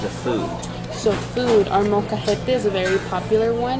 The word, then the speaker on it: molcajete: So food, our molcajete is a very popular one.